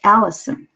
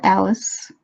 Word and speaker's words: Allison: I want my name to be pronounced Allison, not Alice, not, anything else.